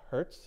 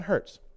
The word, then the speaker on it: Hertz: It's spelled like the rental car company, but it's Heinrich Hertz, if I remember correctly.